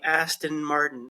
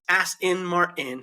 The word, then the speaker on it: Aston Martin: the t's correctly ason Canadians tend to turn them into D's we like ason Martin and then Muhammad almost skips over them he goes as in Martin yeah that's how we say it that's how you say it but in yeah as Martin it's very funny there no there's no consent at all in the American version they just hop over the S ason Martin what ason